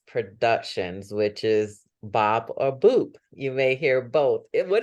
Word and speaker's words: BOUP: say but it's boot which rhymes with soup and you know what